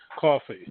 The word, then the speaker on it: Cawfee: I'm from New Jersey, so I'll pronounce it the Jersey way, coffee.